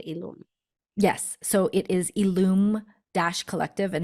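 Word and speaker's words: illume: learn more about ilum yes so it is illum Dash Collective and Alum is spelled i l l u m e for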